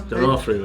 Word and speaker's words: D'Onofrio: Last name D'onofrio? D'onofrio, yeah.